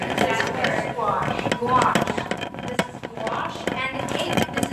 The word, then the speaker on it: gouache: Gouache. You guys are gonna have to help me on the pronunciation of that word. Gouache.